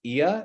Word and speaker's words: Oia: the opportunity to uh check out IA it's spelled oia um it's on about the